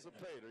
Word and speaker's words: Noxapater: I can't pronounce it. Noxapertur or whatever. Yeah, I'm going to leave it alone. N-O-X. But that's the gentleman. Noxapater. Yeah, Noxapater.